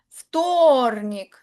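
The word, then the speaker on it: вторник: Ftornik. Tilde en la o. La v se lee como una ftornik.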